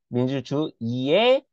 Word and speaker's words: 민주주의: 의는 의로 발음하는 것이 원칙이지만 이로 발음하는 것도 허용하다. 여러분 헷갈리지 마세요. 아까는 첫 소리가 자음일 때 무조건 이로 발음한다는 건데 이거는 자음으로 시작하는 게 아니라 했죠? 이거 이응은 자음이 아니라 했죠. 여러분 헷갈리지 마. 그래서 우리가 모음으로 시작하는 의 같은 경우에는 의로 발음하는 게 원칙이지만 이로 발음하면 허용해. 그래서 우리가 민주주의라고도 할 수 있고 민주주의라고도 할 수 있는 거야.